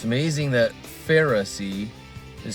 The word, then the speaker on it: Pharisee: Pharisee it's amazing that Pharisee is spelled pH a r i s e e if you sound it out far I c p h a r far the letter I and then you got